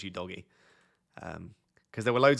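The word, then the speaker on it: Udogie: because in an interview he specifically said it's you doggy um because there were loads of people from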